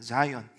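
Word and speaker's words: Zion: 시온이라고 하는 것은 영어로는 자이온입니다. 자이온. 발음 나는데 시온. 예. 자이온 비슷하죠.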